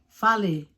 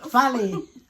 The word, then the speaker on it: fale: Fale.